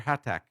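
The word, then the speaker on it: Hathach: So that's or Pac or Hatac that's how you would say his name.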